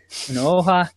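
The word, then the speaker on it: Onuoha: Unuoha, Stephen Stephen Ireland, and Joe.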